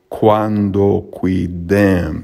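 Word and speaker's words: quandoquidem: the meter would go cuando qui dem so although it's long here it was pronounced short then we have cuando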